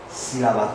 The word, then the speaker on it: sílaba: So the tilde simply marks the tonic syllable, the most prominent syllable of a word.